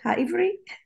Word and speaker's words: Ha'ivri: Ha'ivri?